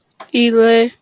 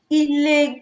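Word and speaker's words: ilé: We need to emphasize that they need to also be able to pronounce it the correct way. Ile correct and way, Ile, yeah. they are different. Ile. Eh, Yes. So that intonation is important.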